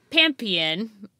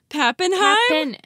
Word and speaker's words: Pappenheim: Her name was Bertha Pampian. Did I say that right? Pappin. How do you say that? That's so disrespectful. Pappenheim? Pappenheim is so correct.